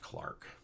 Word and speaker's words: Clerk: His middle name is spelled as if it were Clerk, but it's pronounced Clark.